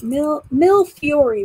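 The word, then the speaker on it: millefiori: that's what i thought mill mill fury right no the e is silent yeah i was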